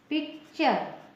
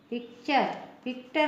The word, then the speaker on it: picture: में, तो टी को, ये TURE को टर नहीं पढ़ेंगे, चर पढ़ेंगे, है ना, इसका उच्चारण हो जाएगा चर। फॉर एग्जाम्पल PICTURE, इसको क्या पढ़ेंगे? इसका उच्चारण होगा पिक्चर। पिक्टर नहीं पढ़ेंगे, पिक्चर पढ़ेंगे।